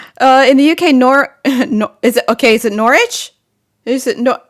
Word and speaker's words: Norwich: In the UK, is it Norwich? Is it Norwich? But in Connecticut, it's pronounced phonetically like Norwich.